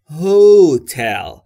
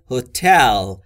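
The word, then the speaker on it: hotel: هتل رو تلفظ بکنن میگن هوتل به جای اینکه بگن هتل اگر در دیکشنری هم چک بکنید میبینید که استرس و فشار روی بخش دومه یعنی روی تل پس تلفظ درست به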